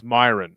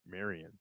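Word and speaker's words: Mairon: What about What about uh what about Oh, it's Myin. I always say his name is Marian.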